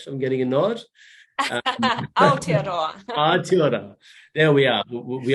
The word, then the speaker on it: Aotearoa: And having arrived in Aotearoa, am I pronouncing it right? I'm getting a nod. Aotearoa.